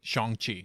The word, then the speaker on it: Shang-Chi: Shang-Chi.